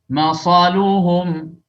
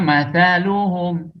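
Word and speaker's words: مثلهم: Masaluhum, seharusnya mathaluhum, ya.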